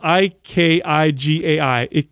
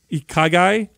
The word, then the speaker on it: Ikigai: And in that culture over there, there's something called the it's spelled I-K-I-G-A-I, Ikigai.